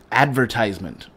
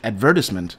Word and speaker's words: advertisement: the first type we in America use the word uh advertisement yeah but I feel the British advertisement that's better rolls off the tongue a lot easier yeah than advertisement like